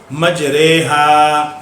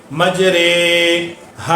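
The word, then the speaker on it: مجريها: रा इमाला वाली रे, मज रे, हा अलिफ ज़बर हा। इसके हिज्जे इस तरह होंगे, मजरे हा। इसका तलफ़ुज़ क्या होगा, मजरे हा। हम इसको मजरी हा नहीं पढ़ेंगे, मजरे हा पढ़ेंगे, मजरे हा।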